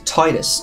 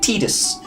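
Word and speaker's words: Tidus: play Final Fantasy 10 main character's name is titus tid us the person who plays his voice the American do the place is voice in the you know the Western version pronounces it tedious and that always annoyed me because it's like oh it's Titus come on now what's Final Fantasy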